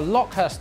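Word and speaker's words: Lokhust: Yes, we have a Lockhurst Lord. The R is silent.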